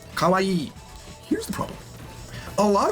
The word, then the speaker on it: kawaii: So it's e kawaii.